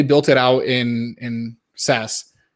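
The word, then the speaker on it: Sass: kit originally they built it out in in sas right that's how you pronounce it because there's scss and there's sas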